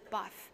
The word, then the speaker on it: HBAF: That brand is HBAF, which is pronounced BAF. The H is silent, but their work is far from quiet.